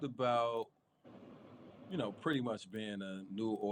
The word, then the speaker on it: New Orleanian: So you talked about, pretty much being a New Orleanian. That's how you pronounce it, right?